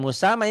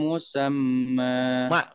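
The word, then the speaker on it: مسمى: kalau rapikin liajalim musama bukan musama ini ada tasdid nih kalau ada tasdid itu dibacanya nyamber ya dan dobel liajalim musam musam kayak orang marah gitu ya nyamber ayo li ajalim liajalim musamma di sini masuk liajalim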